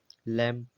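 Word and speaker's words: lamb: जैसे एल ए एम बी लैंप तो लैंप में जो है बी साइलेंट है एम एम का यूज़ है तो बी साइलेंट है तो इसलिए खाली इसका लैंप बोला गया है ऐसे कॉम सी ओ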